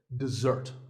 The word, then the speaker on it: dessert: word this is dessert notice that the first syllable is d and the second starts with a z sound we stress the second syllable dessert this word refers to something